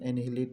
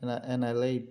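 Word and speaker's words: annihilate: অর্থ হচ্ছে ধ্বংস করা উচ্চারণটা মনে রাখবেন এনিহিলিট না এনালাইট হবে ধ্বংস করা নিশ্চিহ্ন করা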